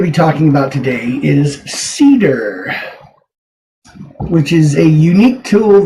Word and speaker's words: Seedr: find extremely helpful so now just to let you know cedar it doesn't say it anywhere here but except up in the tab that's how it's spelled cedar this is an extension